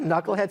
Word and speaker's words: knucklehead: Do you think knucklehead starts with an N? No, I think the person who did it had their encyclopedia out going, oh, the K is silent on that one.